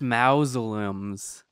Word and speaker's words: mausoleums: There are other mausoleums around Inkwell Isle. I just wonder. Lindsay, it's pronounced mausoleums. Mausoleums.